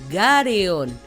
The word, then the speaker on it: Garren: garen viene de gallon Los japoneses lo pronuncian como gareon el galeon o doblón